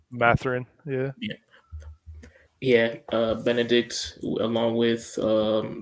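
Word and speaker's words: Mathurin: Benedict, damn, I can't pronounce his last name. Matherin, yeah.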